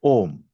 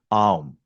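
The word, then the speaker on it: ओम्: But when we chant, we say Om, not Am. Why is that correct? Shouldn't we is the pronunciation is it? Now this a and vu, when it gets joined, there is sandhi. Sandhi means it is a joining. When it joins, it becomes o.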